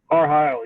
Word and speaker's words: R.Heyl: Is it R.Heyl? R.Heyl, yes.